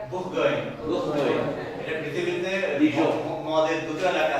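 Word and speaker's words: Bourgogne: And the Burgundians, এই যে বুরগুন, তার কি উচ্চারণ করে এটা? বুরগুইন।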